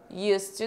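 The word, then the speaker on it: used to: aí existe essa regrinha Você não vai falar esse D não pronuncia ele e você fala tudo junto aqui ó US US to drink US to drink costumava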